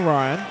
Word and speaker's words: Rhyan: now it's a very interesting way how to spell Ryan h.y am2 seen it before have you seen it Ryan short what a unique way of spelling but it's still pronounced the same now as we can